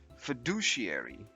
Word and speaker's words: fiduciary: teamwork next we have this word which is pronounced as fiduciary fiduciary imagine you have a big important decision